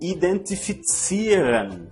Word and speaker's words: identifizieren: O verbo identifizieren, que significa identificar. Vamos pronunciar novamente este verbo para você ver como pronunciamos a letra Z no alemão.